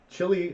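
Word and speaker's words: Chili: Chilly, or we have one of those up in New York. It's pronounced chilly.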